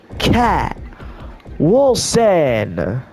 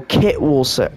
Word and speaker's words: Kit Wilson: It is Elton Prince and his tag team partner, Cat Wilson. Where'd he go? Is he not in the game? Oh, Kit Wilson. My bad. I said his name wrong.